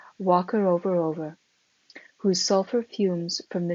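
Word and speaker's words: Whakarewarewa: Passing Sulphur Point, we came to Wakarovarover, pronounced about like this, Wakarovarover, whose sulphur fumes from the numerous mud-holes we had seen rising in the distance yesterday.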